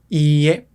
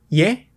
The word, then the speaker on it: ie: Por ejemplo, ie significa no. Ie, pero ye con una sola i significa casa. Oye, ¿tienes hambre? ¿Quieres ir a comer? Casa. Ye. No, tienes que decir ie.